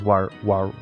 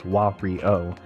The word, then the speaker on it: Wario: is he is walry i guess it's walry cause his name is wahrio but i always say wario because i have a lazy pronunciation uh and you know it's whatever i've gone over this before you know my pronunciation is bad i mispronounced my own